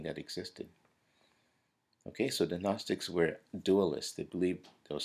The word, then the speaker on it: Gnostic: anti-agnostic in orientation so Gnostic is this is the word here it's g-n-o-s-t-i-c and um the g is silent now the the gnostics